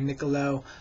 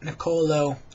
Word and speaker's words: Nicolo: fet um let me see other people call me Nico other people call me Nicolo but niolo is how you pronounce my name and I just recently